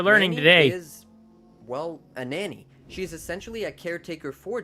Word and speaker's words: Nani: know that n uh Nani was made to be Jesse's Nanny which I think is the correct pronunciation of Nani but we've always just called her Nani um and like that's